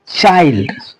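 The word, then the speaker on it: child: तो हम इसको पढ़ेंगे चाइल्ड। हम इसको क्या पढ़ेंगे, चाइल्ड, ठीक है। चिल्ड पढ़ने पर गलत हो जाएगा, चाइल्ड पढ़ना है।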